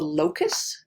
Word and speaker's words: locus: a gene on a chromosome is called the locus this is the pronunciation because it's not obvious how you pronounce